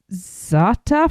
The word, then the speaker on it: za'atar: Now please note that while this restaurant offers many side options such as roasted broccolini and za'atar fries, I don't know how to pronounce that one.